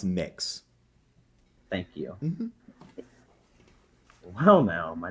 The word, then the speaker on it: Mx: i'm supposed to uh mx is mx is pronounced mix thank you well now